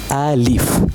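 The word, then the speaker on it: ألف: You should pronounce Alif.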